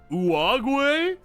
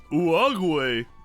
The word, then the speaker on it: Uruguay: The U in Spanish is pronounced like the U in pudding. Oh, so it's... Uruguay.